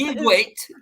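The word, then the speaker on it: Dia dhuit: Diagwit. Actually, that's Diagwit.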